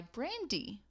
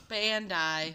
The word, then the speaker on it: Bandai: and other toys by Brandy, or Brandi. I'm not quite sure how to say it. Brandy the singer? Nope, it's, I'm adding R's in there where there's not. Bandai. Bandai. Yep, that's what it is.